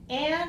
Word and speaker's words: Anne: Okay, so Anne is a common name, A-N-N, or A-N-N-N-E. Those are two common spellings for the name Anne, A-N-N, that's the shortest one, or an extra E, which is not pronounced, which I guess we